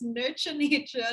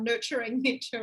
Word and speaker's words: Nurture Nature: It's Nurture Nature, not Nurturing Nature, Ryan.